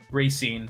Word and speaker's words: Racine: one ransen is how you say ransen Wisconsin Racine Racine okay just north of kosha there's a